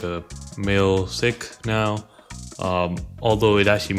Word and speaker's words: Sikh: understand this video so sick right is actually the correct way to pronounce seek right but seek is like it makes